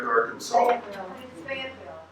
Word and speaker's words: Arkansas: the road from Fayetteville if you've heard my pronunciation but that's the correct Arkansas okay I appreciate that